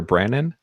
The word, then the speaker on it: Brannen: definitely got one of them brinan Brandon am I pronouncing that right that's right yep so you